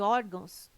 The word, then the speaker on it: órgãos: Caráter, intransferível e órgãos têm sua sílaba tônica na penúltima sílaba. São paroxítonas.